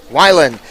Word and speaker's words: Weiland: Weiland. That would be the German pronunciation. Actually, it is. They pronounce the second vowel in German, whereas here in English, it's the first vowel.